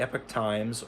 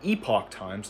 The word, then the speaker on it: Epoch Times: Views expressed in this article are opinions of the author and do not necessarily reflect the views of the epic times or sorry the epoch times not the epic times.